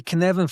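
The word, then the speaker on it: Cynefin: So if you're looking at the canvan framework it's pronounced as as if you're saying Kevin and you sneeze in the middle.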